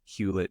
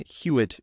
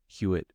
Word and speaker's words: Hewitt: all right Dr huet rette thank you so much for there's there's no l in the hu part there not so how do you say SAR huitt ra ret okay all